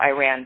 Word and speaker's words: Iran: So my parents are both from Iran, so Iran, but pronounced Iran correctly.